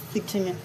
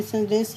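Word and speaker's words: saw: यहां एच डब्ल्यू को से नहीं पढ़ेंगे। सा पढ़ते हैं। क्या पढ़ते हैं? सा तो आई सॉ you yesterday at the mall.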